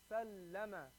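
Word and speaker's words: سلَّمَ: But when you put the shadda on it, it becomes sallama. Sallama. You hold that lam sound.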